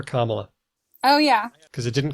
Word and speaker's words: Kamala: and train myself to put stress on the first cable for Kamala oh yeah cuz it